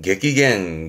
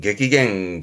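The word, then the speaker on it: 激減: 발음은 객기겐, 객기겐. 격하게 줄어든. 반대로 격하게 늘어나면 위에 있던 객기조, 격증 써가지고 객기조, 객기조. 지금은 격감하는 객기갱, 객기갱이었습니다.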